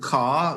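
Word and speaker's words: Karr: This one is called Car, which is spelled K A R R.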